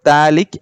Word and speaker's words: phthalic: give this term as phthalic acid okay pH so here pH is silent so thalic acid so what is